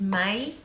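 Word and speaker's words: Maai: So many years ago, quite a few years ago in Fragcom, generally everyone went crazy for a fragrance called May, which is spelled M-A-A-I.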